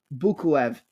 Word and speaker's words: Bukuev: Before that, he lost the decision back in March of 2020 to Imran Bukaev or Bukuev? Oh my God, I'm saying it wrong. Imran Bukuev at ACA 105.